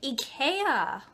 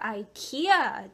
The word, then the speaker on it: Ikea: in other images but it is from Ika or Ikea depending on how you like to pronounce that and it was recommended